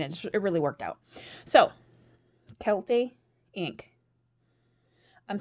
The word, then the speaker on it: Kielty: really worked out so Kelty Inc I'm some people pronounced it Kielty I announced it culty however you want to pronounce it this is